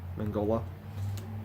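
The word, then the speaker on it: Mignola: It's done by Mangola. That's how you pronounce his name.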